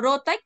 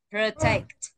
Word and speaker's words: protect: đọc protect đâu nha, đọc là protect. Pro và take, trọng âm rơi take.